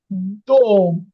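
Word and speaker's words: дом: এই দেখেন, এই জন্য এখানে কিন্তু দাম হয়নি, এখানে হয়েছে দোম, দোম।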